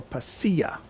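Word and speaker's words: pasilla: p a s i l l a or paa but that according to my research is the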